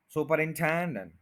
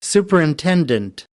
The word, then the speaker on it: superintendent: सुपरिंटेंडेंट 5 syllables हैं, fourth के ऊपर स्ट्रेस है, सुपरिंटेंडेंट, सुपरिंटेंडेंट, सुपरिंटेंडेंट। तो सुपरिटेंडेंट कोई वर्ड नहीं होता, इसको भी आप बहुत अच्छी तरह नोट कर लें। superintendent, superintendent, superintendent, और आज